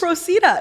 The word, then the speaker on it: Procida: yes, Procida, exactly, yeah.